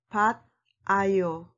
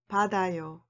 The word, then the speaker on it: 받아요: So the final form will become 받 아요. Be careful the pronunciation 받아요.